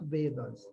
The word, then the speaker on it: वेद: हमर evolution of वेद वेद गुडा सब आसिला केमिति ओके इवोल्यूशन ऑफ वेदस के वेदा कहउचंती सेमिति कहबेनी बुझले एक्चुअल प्रोनाउंसिएशन करिवे सेटा होची वेद नॉट वेदा हैला जदि सेमिति हि